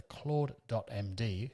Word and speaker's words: CLAUDE.md: And the Claude.md, which is how that's pronounced, file is the main file that Claude